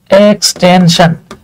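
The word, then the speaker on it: extension: একটা new page নেই নিয়ে শুরু করি এক্সটেনশন এক্সটেনশন আচ্ছা এখানে একটা মজার বিষয় বলি এস আই ও এন এটার উচ্চারণ হচ্ছে সন সন কিন্তু আমি যদি এভাবে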